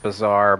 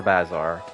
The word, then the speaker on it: bazaar: over to the bazaar I know it's pronounced bizarre but I like enunciating it incorrectly when I'm hungry and tired bizarre Bazar all right let's see